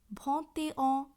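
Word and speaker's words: vingt et un: এই বিষয়টি একটু মাথায় রাখতে হবে যে শুধুমাত্র 21, 31 নয়, 41, 51, 61 এই সংখ্যাগুলির ক্ষেত্রেও মূল সংখ্যার সাথে যুক্তভাবে সংখ্যাটির উচ্চারণ হয়। অর্থাৎ ভতে অ, থতে অ, ক্যাহতে অ এইভাবে উচ্চারণ হবে।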